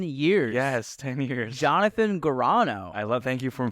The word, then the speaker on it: Gurano: the past 10 years yes 10 years Jonathan Gano I love thank you for pronouncing my last name correctly I you know